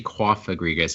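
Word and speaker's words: Cofagrigus: I I know it's it's actually cough agree guys cuz it's like a cough cough like cooked cough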